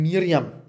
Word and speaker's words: Miriam: Liebe Geschwister, Jesus wurde als Jude von einer jüdischen Mutter geboren, die den biblisch-hebräischen Namen Miriam, der auf aramäisch ausgesprochen Mariam lautet, und aus dem Griechischen zu Maria wurde.